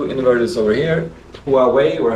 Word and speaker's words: Huawei: You got 2 inverters over here, Huawei, or how you pronounce that.